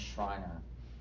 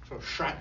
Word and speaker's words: Schreiner: There is a book by a guy named Thomas Schreiner, if anybody is interested, that goes through all the aspects of baptism.